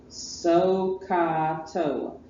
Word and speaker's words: SOHCAHTOA: S-O-H, so, pronounced so, Ka, C-A-H, and Toa, T-O-A. SOHCAHTOA.